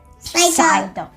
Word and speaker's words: Psyduck: and that is s psyduck the p is silent there's no silent p